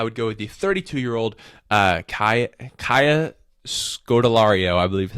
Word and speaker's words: Kaya Scodelario: Now, in that role, I would go with the 32-year-old Kaya Scodelario, I believe is how you say her name.